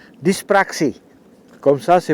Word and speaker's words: dyspraxie: y s P r a x I e dispraxé comme ça se prononce moi je suis d'origine rouaine je suis